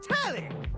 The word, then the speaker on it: Telly: The name's Telly, rhymes with Nelly, like, whoa, Nelly, did you know Telly offers 5,000 channels like an endless deli?